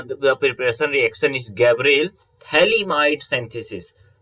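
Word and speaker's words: phthalimide: preparation reaction is gabriel thaliamide synthesis if you will see here ph is silent in gabriel synthesis okay gabriel thalam thalamites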